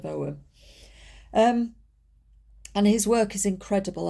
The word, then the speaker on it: Ogham: I can always forget and pronounce it Ogham instead of Ogham.